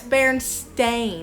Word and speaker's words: Berenstain: how to spell it well now it's bare and stain it's not e i n at the end it's a i n that's a bunch that's